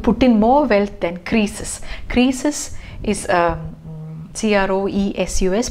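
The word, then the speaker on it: Croesus: back i would put in more wealth than creases creases is a c-r-o-e-s-u-s pronounced as crisis is a sixth century bc king of this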